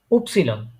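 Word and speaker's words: Ypsilon: এটা এটা উপসিলন। উপসিলন হ্যাঁ, উপসিলন। ওয়াই কে তারা বলে উচ্চারণটা আসতেছে উপসিলন।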